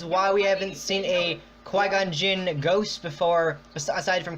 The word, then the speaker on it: Qui-Gon: There's no key in there, come on. God damn, there's a Q in there. It's Qui-Gon, not Q-Gon.